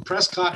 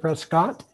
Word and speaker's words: Prescott: club and that's in Prescot Arizona and we pronounce it Prescot like biscuit instead of Prescott uh this is one of the things you